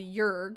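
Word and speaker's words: Jörg: think that's fun okay it's missing the umlaut but it should be pronounced jorg which is pronounced closer to yurg which sounds even more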